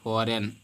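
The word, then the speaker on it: foreign: आता है अगला लेटर फॉरेन फॉरेन मेंस होता है विदेश तो इसको नहीं पढ़ेंगे बल्कि जी को नहीं पढ़ेंगे सिर्फ फॉरेन पढ़ेंगे वर्जन नहीं इसी प्रकार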